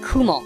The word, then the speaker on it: Kumo: called Kos Kum well it's pronounced Kumo Japanese for spider oh Kumon I'm only messing